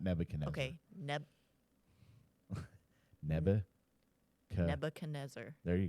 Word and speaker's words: Nebuchadnezzar: um he killed countless how do you say that Nebuchadnezzar okay yeah I kept wanting to call him Ebenezer Ebenezer no not Ebenezer that's that's the Christmas story yeah yeah the Carol